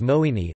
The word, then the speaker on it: moenie: For example, moe nie, which literally means, must not, usually becomes moeini. Although one does not have to write or say it like this, virtually all Afrikaans speakers will change the two words to moeini in the same way as do not shifts to don't in English.